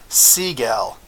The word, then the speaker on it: Seg-El: it in here, but if you pronounce it the right way, it's actually seg-el.